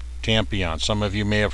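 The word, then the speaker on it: Tmmpon: uh tampon tampon and it is spelled t m m p o n tampon is how he pronounces it tampon some of you may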